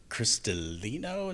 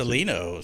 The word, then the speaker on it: Cristalino: And this is Cristalino. Is that how you pronounce it? That is how you pronounce it. Cristalino.